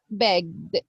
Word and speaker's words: begged: spelling the verb so the ed sound here is going to be begged begged good letter D okay so basically basically